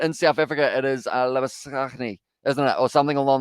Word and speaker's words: Labuschagne: But yeah, he actually pronounces it Labuschagne, which is kind of an interesting one there.